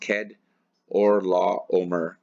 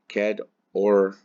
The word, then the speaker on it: Chedorlaomer: And the king of Sodom went out to meet him after his return from the slaughter of Chedorlaomer. Or actually, it's pronounced Chedorlaomer. Chedorlaomer.